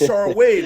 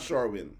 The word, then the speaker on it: Sharwin: 4 minutes, Sharwin. Sharwin. I like how you pronounce it. Yeah, it's Sharwin. It's not Sharwin.